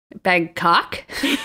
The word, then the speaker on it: Bangkok: i say it like you put a lot of emphasis on the second syllable bangkok yeah is it bangkok